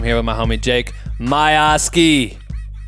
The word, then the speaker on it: Miosge: with my homie Jake my Oski I just I just learned how to say his name cuz this whole time I thought your name was Jake my mo sage you know sorry about